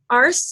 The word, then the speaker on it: Arce: And Group 15 consists of myself, Grace Arce. Did I pronounce that right?